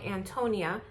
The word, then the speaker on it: Antonia: birthday reads, is My Antonia. I know some people say My Antonia. Anyways, I'm just going to say Antonia because it's the pronunciation I prefer.